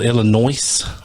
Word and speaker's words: Illinois: 1973, a man in Enfield, Illinois. I'm going to say Illinois. Because Illinois, yeah. Has an S there.